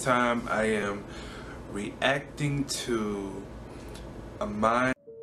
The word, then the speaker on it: Aminé: Could y'all put how to pronounce it down in the comments, because I don't know how to pronounce it. It's Aminé.